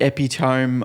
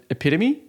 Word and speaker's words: epitome: And I'd go around and say, this is the epitome of beautiful, something like that. Yeah. And I soon realized that was the word epitome.